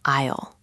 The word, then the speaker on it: aisle: There's an S in there. I know. I know. English is so weird. We don't say the S.